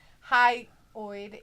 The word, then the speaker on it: hyoid: specified as luke says hyoid boeing hi oid is how you say it how to say it